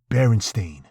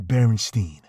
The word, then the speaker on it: Berenstain: That's right, Berenstain, not Berenstein. See, there has always been a misconception about how the name was truly pronounced.